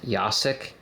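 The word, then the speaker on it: Jacek: by a modder designer named yasik has name spelled like j a c e k if you see him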